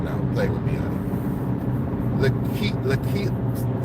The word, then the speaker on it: Lakilya: Lakilya, I can't even say the child's name properly. Lakilya. I gotta say it like it's a Hebrew name.